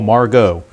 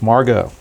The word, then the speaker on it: Margot: Yes, it is pronounced Manuel Margot. It rhymes with cargo. So it's Margot.